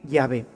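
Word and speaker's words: Yahweh: que soy es decir llave y sabemos que se escribe y se pronuncia así por otras palabras que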